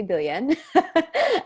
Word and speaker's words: Biljan: fun stuff yeah absolutely i'm so martina belgian pronounced technically billion um and i'm in london ontario canada so